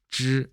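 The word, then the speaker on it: 之: 발음은 지가 아니라 쯔 이렇게 됩니다. 발음이 어렵죠. 혀를 말아서 하는 권설음입니다. 쯔 이렇게요.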